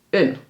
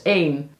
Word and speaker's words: een: Bedoel je het onbepaalde lidwoord? Bepaalde lidwoorden zijn de en het. Onbepaald is een. Dus ja, dit woord kan dus op 2 manieren worden uitgesproken. Maar veel studenten spreken het continu uit als 1. Ook als ze het lidwoord een bedoelen.